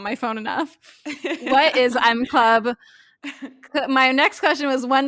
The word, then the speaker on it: M Club: teasing is it pronounced M Club M M M it's like the letter M yeah okay you keep